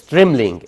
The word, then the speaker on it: trembling: ال B silent بتنطقش trembling. يعني هي على فكرة ماشي. طب كملي. طيب. آخر حاجة. ايه؟ Laughing. Laughing. لافينج بتضحك. تبقى تريملينج. تريملينج بتترعش من الخوف. كلمه تريمل البي هنا سايلنت.